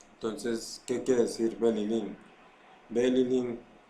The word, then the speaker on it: Belilín: Fijarnos en la pronunciación es Belilín, Belilín, Belilín, hacerlos muy concentrados.